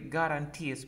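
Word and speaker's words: guarantee: un plan a de garanties mira cómo se escribe guarente con doble y se pronuncia garanti galanti ok garanti picos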